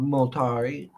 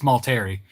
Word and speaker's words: Multari: Rob Multari. I'm saying it wrong, ain't I? It's Multari.